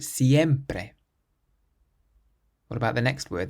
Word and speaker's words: siempre: Siempre, siempre. So not siempre or siempre, but siempre.